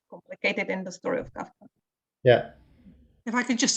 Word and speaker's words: Kafka: And because in German you are pronouncing the way FF, it's Kafka.